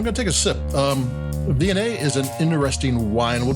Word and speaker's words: Viognier: you see written, but you never hear them pronounced. But this is Viognier.